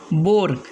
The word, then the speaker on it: boar: जैसे कि पहला वर्ड्स है बोर, BOAR बोर, यहाँ ए साइलेंट है।